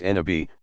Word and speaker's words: Nabi: Every prophet, Nabi, pronounced Nabi, passes along the divine word to a particular people and inevitably meets with tremendous resistance, at least initially.